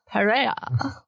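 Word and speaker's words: Pereira: When you say it with a Spanish accent, it sounds sexy. Periera. I don't have. You need to roll your R's.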